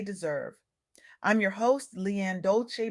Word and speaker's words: Dolce: I'm your host, Leanne Dolce, pronounced dolce like sweet softness whispered in French.